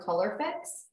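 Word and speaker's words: Colourfix: So this one, if anyone is interested, this particular paper is Art Spectrum Color Fix. And it's spelled C-O-L-O-U-R-F-I-X.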